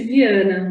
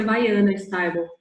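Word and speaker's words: Vianna Stibal: Em português, lê-se Viana, mas a gente fala a pronúncia em inglês que é Viana Stibal.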